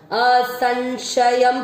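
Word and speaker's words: असंशयम्: कई लोग इस स को भी इस श का उच्चारण करते, असंशयम नहीं है, असन असंशयम।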